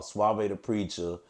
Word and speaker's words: Suave Da Preacha: Suave the Preacher.